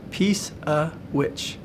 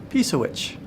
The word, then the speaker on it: Pswitch: Oftentimes, when people see my name in print, they're unsure how it's pronounced. So to help with that issue, my name is pronounced Pswitch. Pswitch.